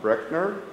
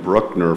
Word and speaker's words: Breckner: He said it's like breakfast. So those of you that have been calling him Bruckner for all these years, you learn something every day, especially on a college campus.